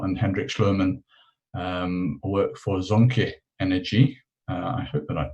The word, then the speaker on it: Zonke: I'm Hendrik Schluermann, and yes, you did pronounce the name of Zonke Energy quite correctly.